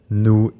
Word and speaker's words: nous: Next, don't pronounce every final letter you see. The s in vous, nous, il, and elle is usually silent.